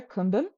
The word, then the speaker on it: Kumbum: Kumbum Monastery is spelled ku-bum, but together kumbum.